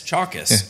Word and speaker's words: Chalkias: so he corrected me it's chalk like a chalkboard s chalkis and I still put